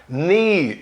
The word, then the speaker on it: knee: Se um K vier antes de N no início de uma palavra, não se pronuncia nunca. Então, olha lá, knee, joelho, né?